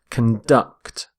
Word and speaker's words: conduct: are conducting electricity so note the stress of on the verb as well conduct conduct stress on the second syllable we say conduct when